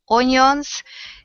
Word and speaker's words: onions: Yeah, it looks like on, but it's un, like this.